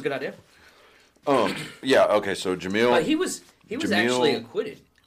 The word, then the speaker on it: Jamil: Yeah, okay, so Jamil. He was Jamil actually acquitted of all Charga. Crimes. Jamil Yarga or Chagra. Yeah, Jamil. Because in Spanish, the J is pronounced like an H, and if I'm getting